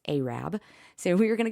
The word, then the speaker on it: Arab: live in North Alabama it's not Arab it's spelled a r a it's Arab so we were going